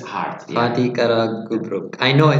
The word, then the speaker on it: Fatih Karagümrük: Fatih Karagümrük. It's hard. Fatih Karagümrük.